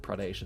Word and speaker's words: Pradesh: I think someone said Pradesh is the correct pronunciation.